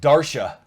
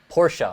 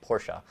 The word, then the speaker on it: Porsche: Dara Dara yeah they they came close to Porsche I'm sorry I didn't say it right Porsche and um well it's only two letters off replace the da with a p yeah exactly so this